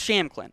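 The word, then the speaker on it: Shampklin: aaron champ clinton but the p is silent so it's just sham clinton i'm gonna have to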